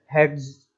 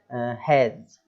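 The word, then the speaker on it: hedge: अब लिखा हुआ है हैज, तो इसको लोग किस तरीके से पढ़ेंगे, हेड्स, हेड्स, ऐसा नहीं पढ़ना है। डी जो है वो साइलेंट है इसमें भी क्योंकि जी के पहले आ रहा है तो हम उसको पढ़ेंगे हैज, ठीक है।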